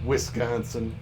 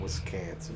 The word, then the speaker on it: Wisconsin: a c an wiscansin no it's not wiscansin you freaking morons only somebody who doesn't live here would pronounce it like that I've never I've lived